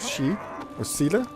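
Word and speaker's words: Síle: and another Mage called she Ora It's s i l e but pronounced in a way which is way different to the way I would say it in a way that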